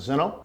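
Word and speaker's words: Zen-Noh: As I mentioned, our two parent companies, one is pronounced as Zeno. It's a large cooperative in Japan. Itochu would be the other parent company. Zeno is a private company.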